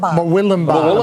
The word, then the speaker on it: Murwillumbah: How do I pronounce that? Murwillumbah.